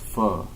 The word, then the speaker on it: pho: For pho. It's pronounced pho, actually.